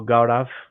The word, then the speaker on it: Gaurav: all Goods um so I I hope I'm pronouncing correctly your name is is that correct so gav yep you are you are taking it very